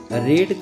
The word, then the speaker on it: read: का जो तीसरा रूप, यहाँ रीड का जो तीसरा रूप का जो प्रोनाउंसिएशन होगा वो रेड होगा। तो a book will be रेड, ना कि रीड।